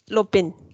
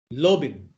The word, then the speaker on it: Lopen: in Bhutan what's the word Ajahn in Bhutan Lopin teacher how do you spell it in English LOPEN Lobin very good so I plan to learn one Bhutan vocabulary a day okay Lopin okay Lopin yes very good so if there is no